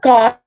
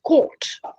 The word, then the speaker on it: caught: as we pronounce c-o-t because c-a-u-t-h-t becomes court right he was caught right and this court is the same as the c c-o-u-r-t court go to court right